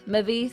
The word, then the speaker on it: Mavith: How do we say her name? Mavith. It's Mavith. Mavith.